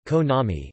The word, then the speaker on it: Konami: The name, Konami, Japanese pronunciation, Konami, is a portmanteau of the names Kagemasa Kazuki, Yoshinobu Nakama, and Tatsuya Miyasako.